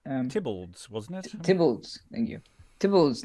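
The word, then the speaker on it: Theobalds: in progressed the fuels is how we pronounce it tibbles wasn't it thank you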